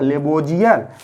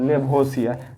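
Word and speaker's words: Lavoisier: रहेगा नहीं समझे तो इस का उच्चारण ज करता था लेवोजर और स कीजिएगा तो लेबो सियर यानी एल ए व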